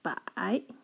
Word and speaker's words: 百: It's pronounced as 百. Pay attention, it's the dipping tone.